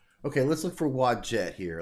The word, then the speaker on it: Wadjet: Her name is pronounced Wajette.